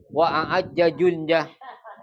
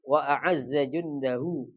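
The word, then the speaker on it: وأعزّ جنده: Wa a'ajja jundah. Ya. Ya, wa a'azza jundahu. Bukan wa a'ajja jundah.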